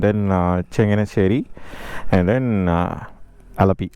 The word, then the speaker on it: Alappuzha: Changeri and then uh Alapi or maybe Alapura that is uh how they pronounce it in uh the local language.